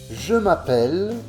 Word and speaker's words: je m'appelle: Les lettres L, E finales ne se prononcent pas. Utilisation. Je m'appelle plus prénom.